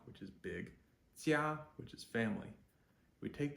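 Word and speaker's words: jiā: Another one, jia, which is J-I-A, 1st tone. Jia, 回家 means to go home. Jia means home or family. So we have da, which is big, jia, which is family.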